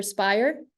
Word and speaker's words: Speyer: But first playing for Speyer, is that right? Yeah, perfect. I won't try and say the rest of the name, but I know where it is. Yeah, right. Yeah. Right. Playing for Speyer in the Pro B League.